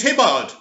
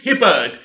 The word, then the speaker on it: Hibberd: is by the very very um awesome james hibbard is it james hibbard james hibberd let's say it properly anyway zack snyder is